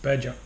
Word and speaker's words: Badja: pronouncing it wrong but pretty sure it's pronounced badger and it is a